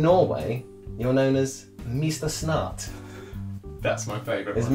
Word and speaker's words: Snart: Snart. That's my favourite Is one. Mr. Snart your favourite one? Is Yeah. that S-N-A-R-T? It's spelt exactly how it sounds.